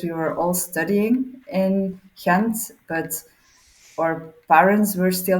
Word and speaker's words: Gent: It was a bruises because uh the team in Kent, that's how you pronounce it by the way, Kent.